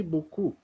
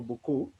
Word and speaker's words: beaucoup: You can say, merci beaucoup. Merci beaucoup. Let me pronounce the letters for beaucoup.